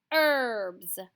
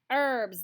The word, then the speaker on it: herbs: the other word is herbs herbs the h is silent herbs has a rooster in